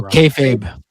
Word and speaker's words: kayfabe: like I I think there's a lot of kayfab and I think it's I'm pronouncing that right, aren't I, Bender? I always feel like I'm pronouncing Kab. Oh, kayfabe.